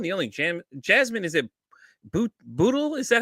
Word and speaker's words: Bootle: My guest today is the host of the podcast, Everyone is Addicted, the one, the only, Jasmine, is it Bootle?